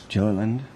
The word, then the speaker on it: Gilliland: I have Gilliland. Did I get it right this time? I never did, do I? Okay. Gilliland. It's a hard G.